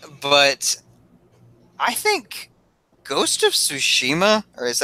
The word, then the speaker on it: Tsushima: go to church but I think ghosts of Tsushima is how you say it you know wait